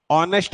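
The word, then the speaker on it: honest: आइए नेक्स्ट वाले क्वेश्चन पे, कहता है डैश ऑनेस्ट पर्सन, क्या आना चाहिए, ऑनेस्ट आप कैसे लिखते हैं, ओ, फिर उसके बाद ऐसा।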